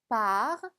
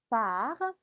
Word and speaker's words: par: par, par. r까지 발음해 주시고요.